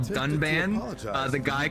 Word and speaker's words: Dunban: The the guy they had read the script, he mispronounced every character's name wrong. There's a character called Ry. He called him Rain. There's a character called Dunban. Uh, the guy called him Duncan and then they gave it a bad score.